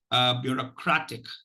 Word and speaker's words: bureaucratic: So the word for today is bureaucratic. Bureaucratic, with the primary stress on crat, on the third syllable crat, and the secondary stress on the first syllable bio.